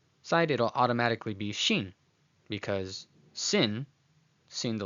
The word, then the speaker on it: Shin: So when the dot at the top, the nikudei shin, is on the right side, it is shin, shin, okay, which is a sibilant making a sh sound, as in the word shady, shady.